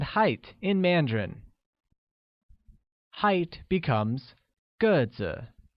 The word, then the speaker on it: 个子: Height becomes 个子, which is pronounced with a falling tone on e, like 个子, while tall translates as 高高, with a high level tone on a.